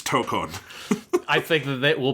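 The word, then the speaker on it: Tōkon: How many people do you think will be calling it Marvel Tekken without knowing that it's Tokon.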